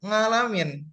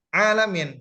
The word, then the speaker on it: عالمين: Juga mungkin masyhur di antara kita sering mendengar beberapa daerah membacanya Rabbil ngalamin dengan ikhfa, ngalamin. Padahal yang benar adalah alamin, Rabbil alamin.